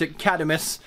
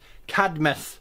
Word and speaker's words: Cadmus: CID I'm us Cadmus there's no extra I vowel there but for some reason four year have pronounced academies and it's just something